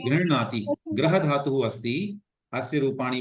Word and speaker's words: गृह्णाति: यदि दक्षिण भारतीयम् उच्चारणं करोति चेत् गृह्णाति गृह्णीत एवं भविष्यति। अन्यथा वयं तु ईकारं वदामः। अस्तु, मुख्यम् अस्ति तत्र ह इति अर्धः वर्तते, हलन्तः अस्ति, अतः गृह्णाति। ग्रहणाति अथवा गृह्णाति हकारे अकारः न स्यात्, माने ह को